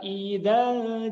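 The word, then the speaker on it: إذا: Kemudian cara membaca idza, huruf panjang pada kata idza ini ternyata tidak dibaca 2, tidak dibaca 4, tidak dibaca 6. Tapi idanya dibaca pendek. Kenapa dibaca pendek? Huruf alif madnya, huruf pemanjangnya dibuang, abaikan. Tidak dilafalkan, tidak diucapkan. Karena bertemu dengan tasdid. Wal qamari idat tasaq.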